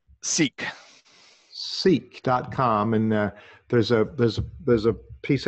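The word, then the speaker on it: Szeak: It's an interesting name, S-Z-E-A-K. How do you say that? Seek.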